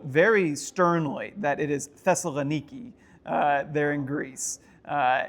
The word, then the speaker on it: Thessaloniki: So um I was told very sternly that it is Thessalaniki uh there in Greece.